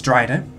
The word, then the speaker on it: Drider: It's Dryder.